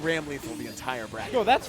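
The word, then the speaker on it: Ramlethal: So I'm actually- saying Ram Lethal the entire bracket. No, that's fine. That is the correct pronunciation. Mr. Daisuke told me himself. That is his vision, is Ram Lethal.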